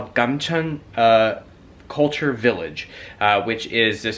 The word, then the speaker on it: Gamcheon: what you're looking for, which fortunately in Korean is always what it's written in English for English letters. So Gamcheon is how you say it in Korean too. So if you just say Gamcheon or wherever it is